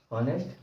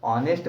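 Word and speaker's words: honest: होनेस्ट नहीं पढ़ेंगे क्या होनेस्ट नहीं पढ़ेंगे इसमें इसको क्या पढ़ेंगे ऑनेस्ट पढ़ते हैं क्या पढ़ते हैं ऑनेस्ट अब इंग्लिश में देखकर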